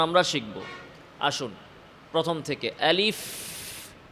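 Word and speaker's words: ألف: আসুন প্রথম থেকে আলিফ আলিফ শেষে কি আছে? ফা সাকিন ফাতেহামস এবং রখাওয়া আওয়াজ এবং বাতাস জারি।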